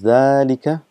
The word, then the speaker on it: ذلك: So again just uh reminding you that it is pronounced as zika but this alif is omitted because of constant